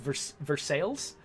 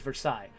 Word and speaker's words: Versailles: place like so uh Versailles Indiana is actually pronounced Versailles uh because that's how it's spelled in English uh even though that spelling in French is Versailles that's a really good